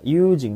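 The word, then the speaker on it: 友人: Yujing ini bacanya yujing ya.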